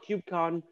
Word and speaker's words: KubeCon: they pronounce things so if you want to blend in then right if you don't want everyone to know that you're a noob then just call it kubecon go listen and learn